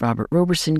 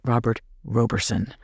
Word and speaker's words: Roberson: and those who say Robert Roberson. I am choosing the pronunciation Roberson because that is how those who are closest to the case pronounce his name.